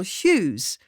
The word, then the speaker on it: hues: At the same time, it is pronounced just like the name Hughes, or, if you want to write it differently, Hughes. And, with just a tiny shift in stress, all hues in his controlling, he is Hughes all over.